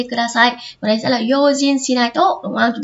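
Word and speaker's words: 用心: Vì bình thường chữ này mình đọc là xin, đúng không? Như kiểu xin bay các thứ chẳng hạn này, đúng không? Như trong từ này nó là yojin, nhớ chưa?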